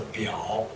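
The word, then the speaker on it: 表: Representatives, in some way, Chinese pronunciation as a biao. Biao is similar with the pronunciation of the watches.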